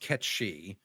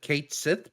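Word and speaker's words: Cait Sith: So it's pronounced Ketchi. But obviously, a lot of people in America and the rest of Europe not exactly up on their Gaelic pronunciation. So for years and years and years, people have just said Kate Sith because that's what it looks like as Yeah.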